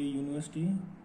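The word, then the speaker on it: university: क्योंकि इसकी साउंड है यू निकल रही है, हमें ये ध्यान रखना है, इसकी साउंड यू के जैसी लग रही है।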